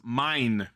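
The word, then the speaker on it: MAY'N: Lastly, performing the show's theme song, Love is the Strongest, interesting title for Gavan show, is Mine, and that's spelled MAY''N, who I've never heard of.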